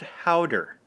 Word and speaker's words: gouda: try it first okay gouda is pronounced harder powder cheese no I did not